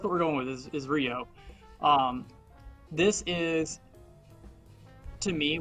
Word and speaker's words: Ryuo: Asus Rog is it ryuo that's how I pronounce it um yeah I've always pronounced it Rio um kind of like a Ryu from Street Fighter that's the way I've